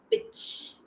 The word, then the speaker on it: bitch: Now for dog, the boy is called dog and the girl is called bitch. Bitch. Okay. Here T is silent. Okay. See here ch sound.